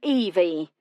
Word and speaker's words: Evie: "I'm Evie, pronounced E-V, but with a Y, short for.